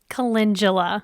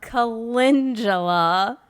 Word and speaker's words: calendula: flower is how do we say it correctly calendula calendula for all of those sophisticated flower Farmers so